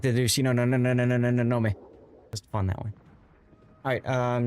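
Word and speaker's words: 東雲: Correct pronunciation of Shinonome is, yes, Shinoname. I like to do Shinonome.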